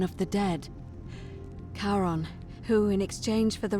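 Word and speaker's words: Charon: a little off the name you heard wasn't karen it was c-h-a-r-o-n as in caron the ferryman of the dead karon who in exchange for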